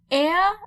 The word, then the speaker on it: er: a Z s he/she/it air sounds a bit like the British pronunciation of air like the person who